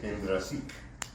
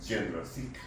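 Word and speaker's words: Jendrassik: llama la maniobra de Hendrasik. Les estamos diciendo en español, aun cuando ellos pronuncian de otra manera, Hendrasik. Pero mejor para que lo podamos entender es Hendrasik.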